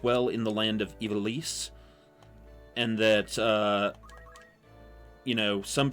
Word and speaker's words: Ivalice: I also pronounced it Ivalice. So it is, bleh. It's supposed to be pronounced like you're French.